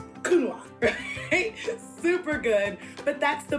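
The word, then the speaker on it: Counoise: on how to pronounce a word that looks like coin kunoa super good but that's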